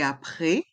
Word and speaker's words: après: Et après, dans le mot après, le S est muet.